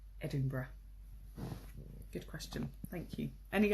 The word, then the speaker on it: Edinburgh: recommend oh good question what is the right pronunciation of the capital of Scotland that's a great question it's Edinburgh Edinburgh and say a spelt funny Edie I and B you are gh but it's pronounced Edinburgh good question thank you any other questions like